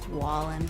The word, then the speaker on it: Wallen: Not a Waylon? big country fan. Waylon. What? Wallen.